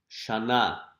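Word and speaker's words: שנה: Shana. During the Jewish New Year, you'll hear people greeting each other. Shana Tova means Happy New Year. or have a good year. Shana, as we see here, Shana Tova.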